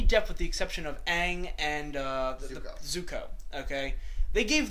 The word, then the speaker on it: Aang: So, the whole movie they call him Ong instead of Aang.